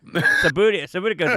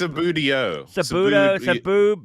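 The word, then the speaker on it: Subbuteo: Sabutico's a lot better than that. Are we pronouncing that right? Sabutico? I think it's Subudio. Budio. That's right.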